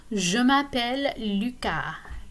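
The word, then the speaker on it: Lucas: name okay so me luca notice that the s is silent at the end of this name so keep in mind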